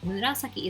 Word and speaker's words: 紫: Murasaki is very hard to pronounce, so make sure you listen carefully and try to pronounce this correctly.